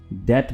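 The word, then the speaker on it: debt: कर्ज की English डेट है और इसको डेब्ट नहीं बल्कि डेट बोलेंगे। इसमें बी प्रोनाउंस नहीं होगा, बी साइलेंट है, ठीक है।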